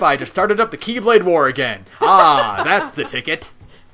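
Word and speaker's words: χ-blade: on them, so we just call it the X Blade. Or, it's technically called the Keyblade, because that's how you pronounce it. But, even Xehanort himself says, people also call it the Kai.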